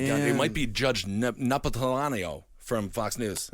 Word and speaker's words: Napolitano: It might be Judge Napolitano from Fox News. That is not how you say that. How do you say his name? I've never been able to say it. It's Neapolitan ice cream.